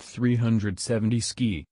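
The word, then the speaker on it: 370Zki: The 370Z, pronounced 370 ski, is the end result of asking what would happen if we turned a sports car into a snowmobile.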